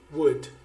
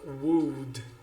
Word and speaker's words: would: Um outro modal verb que nós vamos ver aqui como exemplo é o would. Então, uma dica de pronúncia, a gente não fala would, embora tenha esse W-O-U-L-D, a gente fala would.